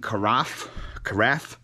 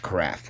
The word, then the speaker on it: carafe: They were on my live, and I think I pronounced it carafe. And Chris was like, that's pronounced craft, okay?